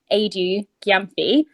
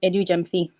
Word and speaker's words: Adu-Gyamfi: If you say it with an English accent, it's Adu-Gyamfi. But my name is Adu-Gyamfi.